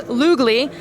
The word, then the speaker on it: Lugli: I don't want you guys to say it wrong because it's spelled Lugli, so it's Lugli.